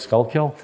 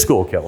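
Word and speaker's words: Schuylkill: the Lehigh Valley and school kill or I never pronounced that right skull kill um what is it school kill it is school kill thank you I've heard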